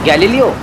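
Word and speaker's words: Galileo: ब्रो, वो गुलेलो astrologer. कौन, नागपाड़ा वाला? अरे नहीं रे, वो साइंटिस्ट जिसने बोला था कि अर्थ जो है वो सन के राउंड चक्कर लगाता है। ओ गैलीलियो।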